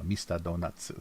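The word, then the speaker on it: ミスタードーナツ: But they make it plural in their pronunciation, because if they didn't, then there's no ending T sound. There's no short consonant ending, except for N in Japanese. So it would be donato.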